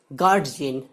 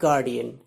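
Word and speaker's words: guardian: যেমন একটু আগে বললাম গার্জিয়ান, নট গার্জিয়ান বাট গার্ডিয়ান।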